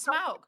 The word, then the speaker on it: Smaug: Schmog doesn't look like a penis. Why are you Why you Why are you throwing an H in there? Yeah, it's just it's smog.